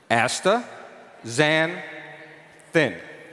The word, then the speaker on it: astaxanthin: so let's do this i break it up into three syllables asta xan thin let's do it together